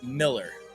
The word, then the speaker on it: Mueller: Bill Miller and I think it's spelled Mueller.